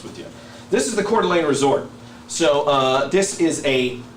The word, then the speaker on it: Coeur d'Alene: It's Coeur d'Alene.